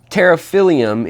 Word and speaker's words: Pterophyllum: of angelfish, freshwater angelfish, and that's Pterophyllum, and it's spelled P-T-E-R-O and then P-H-Y-L-L-U-M. Pterophyllum, it comes from the Greek meaning fin or sail, from pteron, and then phyllon meaning leaf.